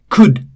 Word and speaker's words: could: Could, again L is silent.